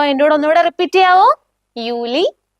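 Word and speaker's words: Juli: അതേപോലെയാണ് നിങ്ങൾ യോട്ട് വരുന്ന വാക്കുകളുടെ ഉച്ചാരണം യൂസ് ചെയ്യേണ്ടത്. യോഗൂർട്ട്. യോഗൂർട്ട് meaning yoghurt. Okay, yacht use ചെയ്തിട്ടുള്ള കുറച്ചുകൂടെ വേർഡ്സ് നോക്കാം. യൂലി.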